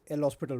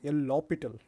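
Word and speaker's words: L'Hôpital: pronounce it anyways like people used to pronounce it like uh L hospital or sometimes L lital okay so I usually pronounce that as l hospital so let's continue with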